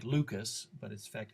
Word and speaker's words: Lucas: This one is called the Luca sequence. It looks like Lucas, but in fact it's named for a Frenchman, so we pronounce it in the French manner.